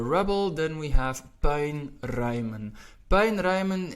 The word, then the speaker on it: puinruimen: Puinruimen is especially focused on the diphthong, which is quite difficult for quite a bit of people, and that's the U and the I. We pronounce it as ui. Puinruimen. If you hear somebody from the Netherlands, you will hear that U and the I sounds a little bit different, but in essence it gets pronounced as ui.